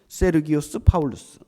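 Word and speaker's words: Sergius Paulus: 했던 겁니다 서기호 바울 서기호 바울은 헬라어로 제대로 발음을 해서 읽으면 세르기우스 바울루스에요 세르기우스 파울루스 이어 바울이라고 하는 사람은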